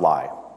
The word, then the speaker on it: Ly: story about my father most people call him even though our last name is pronounced ly it's just one of